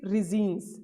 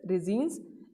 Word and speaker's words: resins: Next category is रिजीन्स। अब रिजीन्स क्या होते हैं इसमें देखेंगे आप, रेजिन्स और रिजीन्स में डिफरेंस है। रिजीन्स क्या है, RESCNES, don't pronounce it रेजिन्स, this is resins, and they are complex